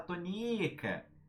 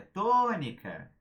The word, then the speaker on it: tônica: Porque você não vai falar tonica. Não, porque é tônica.